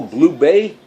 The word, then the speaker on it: Bublé: And Michael Bublé, is that how you pronounce it? I like to call him Michael Bubble, but it isn't Bubble. It's Michael Bublé, that's it.